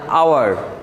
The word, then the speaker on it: hour: এরপরে লক্ষ্য করো আমাদের এখানে আছে HOUR, এটা কি আমরা কি হাওয়ার বলি না আওয়ার, আচ্ছা এটাকে হাওয়ার বলি না, আমরা বলি আওয়ার।